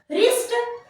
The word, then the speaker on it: wrist: राइट सिर्फ हम आर का प्रोनाउंसिएशन कर रहे, रॉन्ग WRONG है ना। रिस्ट WRIST, इस तरीके से वर्ड।